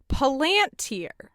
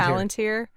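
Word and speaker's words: palantír: Oh, should note in the movie they pronounce it Palantir, which is terrible, and I reject that pronunciation because I would agree with Palantir. You, yeah. It's Palantir.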